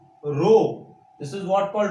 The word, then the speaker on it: rho: एक न्यूमेरिकल पक्का इलेक्ट्रिसिटी से R is equals to रो L upon A से आएगा। इसको हम क्या पढ़ते हैं, रो पढ़ते हैं। रो आपको मैं स्पेलिंग बोलता हूं RHO, this is what called रो।